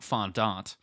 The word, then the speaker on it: fondant: Uh of of fondant. Or if you're a snob, font. I don't that's not how it's pronounced. I think I swear on my life I know people who pronounce it fondant.